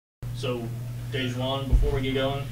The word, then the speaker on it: DaJuan: So, DaJuan, before we get going, DaJuan, am I pronouncing that correct?